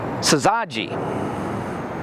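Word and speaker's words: syzygy: And uh you will be very shocked when you see uh the consonants in this word. It is sazi. Sazi. Yes. And it is spelled s y z y g y.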